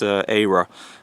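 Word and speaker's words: Eira: is era era Kelly spell II IRA which pronounced era which is it has basically ties in wales and norway it's always the welsh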